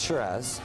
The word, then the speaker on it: Shiraz: Some people say Sarra Shiraz. What is it? How do you say it the right way? Well, it's Shiraz. Shiraz.